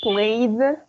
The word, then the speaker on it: played: Lo que está en azul se va a pronunciar como una D.